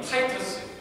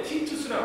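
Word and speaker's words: Titus: AD라면 예수님이 태어나신 후를 얘기한 건데 이때 당시에 로마의 군대 장관인 타이터스, 이거 이제 영어로 발음한 건데 티투스라고 합니다. 티투스 장군이 4개 군단 8만 명을 데리고 들어왔어요.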